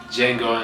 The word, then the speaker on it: Django: D is silent, baby. Django Unchained.